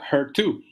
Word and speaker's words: HER2: El tercer nombre, HR2, o en inglés se pronuncia HER2, es un receptor diferente